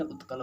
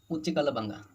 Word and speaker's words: उत्कल: द्राविड़ उच्च कलबंगा, यहाँ पे बोलते हैं वो द्राविड़ उच्च कलबंगा, जबकि यहाँ पे द्राविड़ उत्कलबंगा।